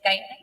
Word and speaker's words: Guyana: Yes, Guyana.